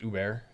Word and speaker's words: Uber: We offer you guys a program with Lyft and Uber, BG. It's pronounced Uber.